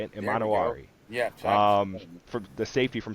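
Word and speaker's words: Emanwori: Imanawari.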